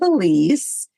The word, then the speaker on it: Ilise: It's wide open spaces with Elise. Elise is spelled different. It's I L I S E.